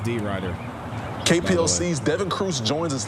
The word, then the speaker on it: DeRidder: The city's pronounced D. Ryder.